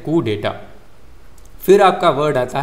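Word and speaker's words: coup d'état: ही रहता है तो फिर इसे कहते हैं कुडेटा फिर आपका वर्ड आता है डेजाव डेजावू डेजाव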